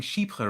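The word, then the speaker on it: Chypre: well done from pronouncing sheep her right i always say you pronounce it like sheep while choking what like um okay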